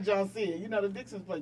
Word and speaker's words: JONCEA: Janika, Janisa, JONCEA. I'll be like, JONCEA. Look. I'm 5 years old. It's JONCEA.